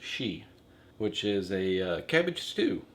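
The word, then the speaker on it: shchi: how they pronounce it and it's yeah it's pronounced she which is a cabbage stew which I'm sure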